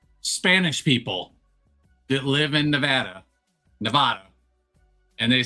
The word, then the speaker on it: Nevada: I say, "Yeah, Nevada." I say Nevada, too, because it's a Spanish word.